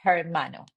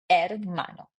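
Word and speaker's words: hermano: When you want to say brother in Spanish, you say mano, we don't say her mano. We say mano.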